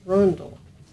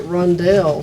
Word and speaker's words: Rundle: Rundle with a U. Rundle. Rundell. Okay. That all the time. I'm sure you did, because I would have pronounced it Rundell, so you would have been still out on My luck.